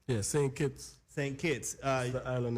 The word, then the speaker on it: Saint Kitts: you come from if I'm saying it right sing keeps yeah same kids same kids uh the island isn't even think